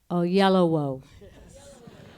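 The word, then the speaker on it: Oyelowo: name is always mispronounced I want everyone to say after me in unison oh yellow wo oh yellow yellow wo just yellow with two o's it's really really simple okay thank you I'll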